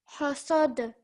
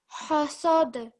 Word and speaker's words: حسد: حسد. This ha has to come from your throat, so it's a bit stronger. Try that. حسد.